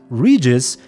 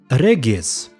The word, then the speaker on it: Regis: Oh, and speaking of his name, did you know that Regis is not the correct pronunciation in his native vampire language? Instead, it sounds something like Regis. We hear it when he introduces himself in front of the unseen elder.